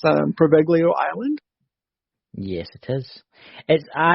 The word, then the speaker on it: Poveglia: And it's known as, correct me, Chris, if I'm wrong, but it's pronounced Poveglia Island.